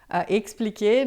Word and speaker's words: expliquer: Lamor, l'amor não se explica lembrando que a pronúncia é sempre explicar, expliquer, né?